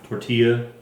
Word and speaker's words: tortilla: Tortilla.